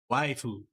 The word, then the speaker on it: waifu: it's just if a Japanese person in romanized English said the word wife, it would be pronounced waifu instead of wife. That's just how their pronunciation in their language works.